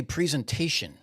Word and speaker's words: presentation: wish he would learn how to say presentation instead of pre there's four syllables four okay you don't need Flur